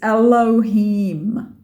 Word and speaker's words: Elohim: accent brings it through write it phonetically to remember it but it's Elohim so you're just saying